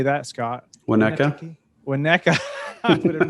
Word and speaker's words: Winnetka: Winnetka.